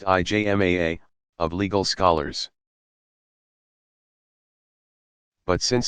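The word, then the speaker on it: ijma: or to the consensus yzma pronounced IJ MAA of legal scholars but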